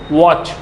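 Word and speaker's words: watch: इट्स नॉट बाच, व्हाट इज? वॉच, वॉच, वॉच।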